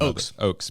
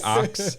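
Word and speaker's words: Oaks: I was going to say ox.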